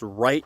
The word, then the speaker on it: Wright: And in the Emerging Civil War book series, they put in parenthesis that his name was pronounced right.